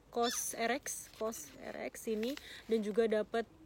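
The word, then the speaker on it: COSRX: Eh kayak tester ya GC tester dari kokoschka bacanya kos RX vrx ini dan juga dapat ini juga tapi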